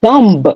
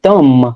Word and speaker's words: thumb: If you don't say thumb, you say thumb.